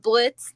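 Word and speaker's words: Blitzø: And Blitz, the O is silent from um Hell of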